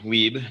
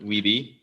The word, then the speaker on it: Wiebe: Hence, I say my name Wiebe, not Wiebe.